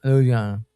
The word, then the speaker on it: Louisiana: that's when I realized like Is it Louisiana or is it Louisi? Loui- Louisiana Louisiana. Oh. I said Loui- You got to say it like Louisiana.